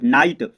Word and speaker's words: night: तो दोस्तों NIGHT तो दोस्तों GH साइलेंट है, और NIT को पढ़ेंगे तो क्या हो जाएगा, नाइट।